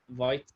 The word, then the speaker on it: Vite: Maybe white can be pronounced vite, like the French for speedy.